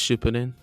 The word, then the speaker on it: Shippuden: I think it's Shippuden.